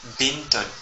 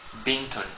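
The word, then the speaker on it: بنت: ça nous donne B le son B comme binton binton qui veut dire une fille alors faisons un petit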